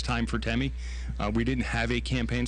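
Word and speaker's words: Temme: the ballot, you spell, the name is pronounced Temi, and Temi. Actually, you know, the affidavit that you file for your nickname, I'm going to be chief long after I'm chief, just like I was long before I was chief. So on the ballot is going to appear Temi. And you spell that? T-E-M-M-E. So be sure you're looking for not T-I-M-M-Y or anything. It's Timmy.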